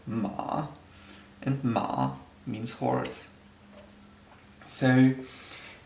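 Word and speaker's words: 马: On the right side, we have this character, which is pronounced ma, and ma means horse.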